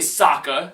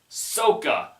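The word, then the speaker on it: Sokka: Shyamalan tried to screw with fans because he mispronounced the names cuz in the show it's clearly Saka it's clearly in it's clearly iro but in the show they're just like on sooka I EO it's like they it's it's like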